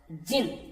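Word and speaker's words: djinn: उससे पहले हम ये देखते हैं कि यहाँ ये जिन शब्द दिखाया है इसमें, जिन प्रोनाउंस्ड जिन, इसको ऐसे बोलेंगे जिन, इसमें डी साइलेंट, ठीक है।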